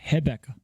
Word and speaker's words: Rebecca: Rebecca's it's pronounced Hebecca.